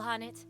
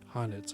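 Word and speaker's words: H'aanit: Hail Hanet. Have you come to see us off? Hanit. That's that's how that's pronounced.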